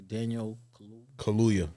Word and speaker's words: Daniel Kaluuya: Let me pronounce it correctly. Daniel Kaluuya. Kaluuya.